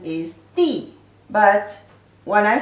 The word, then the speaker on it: 的: So here pronunciation de, here is di. So remember, when its pronunciation is de, always a noun followed it. Noun followed de. The third pronunciation is the second tone.